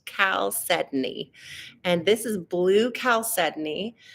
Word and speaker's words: chalcedony: Some people pronounce it chalcedony. That's the literal phonetic way to say it, but it's actually pronounced chalcedony.